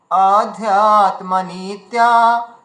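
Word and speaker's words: অধ্যাত্মনিত্যা: নিত্যা বিনিবেত কামাহত নিত্যাহ আচ্ছা এখানে অ আছে কিন্তু হ্যাঁ আ নেই অধ্যাত্মা নিত্যা বিনিবিত্যা কামাহত আচ্ছা এখানে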